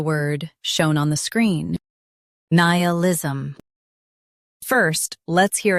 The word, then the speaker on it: nihilism: In US, stress ni. In UK, stress ni instead. Nihilism.